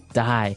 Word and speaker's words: dye: Okay, dye. So it's pronounced exactly the same way as, to die, to not live anymore. Die. But it's spelled differently. D-Y-E.